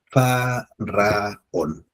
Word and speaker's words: faraón: Se inhala y al exhalar se pronuncia. Ah, ah, oh. Es decir, cada sílaba se alarga. Las 2 segundas sílabas se alargan, pueden ser en una sola frase.